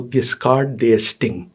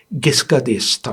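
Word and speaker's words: Giscard d'Estaing: जी एस्टिंग मतलब अगर आप उसको पढ़ें तो गिसकार दे एस्टिंग ये वो है हम हमने कहा कि इसका उच्चारण कहां से तो हमने फ्रेंच एंबेसी फोन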